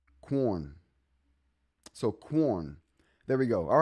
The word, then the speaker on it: Quorn: Corn. Like corn, but with a W after the K or the C, however you want to pronounce it.